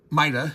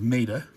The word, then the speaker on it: Maida: Uh, I'm pronouncing this Maida instead of Ma. You will hear British people say Ma. The designer Andrew is British and he will say Ma. And that's fine if you're British, but technically this is